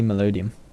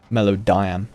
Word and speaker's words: Melodiam: How did you get to be called Emily Melodium? Melodiam, even. Sorry, I said it wrong.